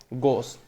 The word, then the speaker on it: Gauss: Scientist था, ठीक है, गॉस, ठीक है। आपको कहीं ये कोई और अलग प्रोनाउंसिएशन मिलेगा but basically sorry GAUSS गॉस, ठीक है।